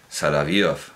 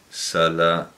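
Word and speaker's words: Соловьёв: como Bulgakov, Vladimir Sala, no sé si lo estoy pronunciando bien, yo digo. Sí, un segundo, que tengo que ver dónde está el acento, pero creo que se pronuncia Salavyov. Sí, Salavyov.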